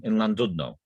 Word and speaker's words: Llandudno: Early on in lockdown, it said that in Llandudno, which is pronounced Llandudno, but I didn't know that at that time, which is a poem in itself.